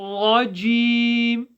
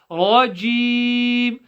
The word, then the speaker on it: رجيم: As we mentioned before, you pronounce a jim from the middle of the tongue touching the top of the tongue. So you're not saying rajim. Okay, it's not dim as some people like to say, especially when you have a certain dialect.